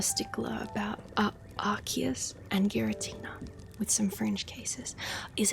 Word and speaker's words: Giratina: It says Gear. It says GEAR-UH-TEE-NA.